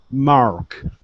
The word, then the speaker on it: mark: can pronounce this correctly instead of saying Mark it's Mar Mark Mark good much better with the r one more time Mark